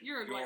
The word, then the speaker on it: Uruguay: You don't usually affect the Uruguay. I say Uruguay. Uruguay. Yeah, but yours is closer again, I think, isn't it, to the considered Spanish pronunciation?